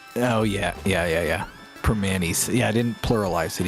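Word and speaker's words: Primanti's: You still pronounce the T in Permanis. Oh yeah. Permanis.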